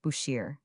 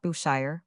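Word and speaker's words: Bushehr: E the name is pronounced Bushir and not Bushire or Bucher.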